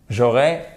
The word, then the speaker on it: j'aurai: simple donc sans s ça devrait se prononcer normalement comme un accent aigu j'aurai un bon travail